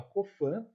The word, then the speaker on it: Coffin: bem simples mola cofam escreve mola coffin mas a pronúncia mola copam né amor funciona é